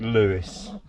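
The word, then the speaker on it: Lewes: to a town called It's pronounced Lewis but it's about Lewis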